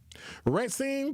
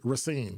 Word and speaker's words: Racine: Racine police, I'm sorry, Racine, cuz I always say it wrong.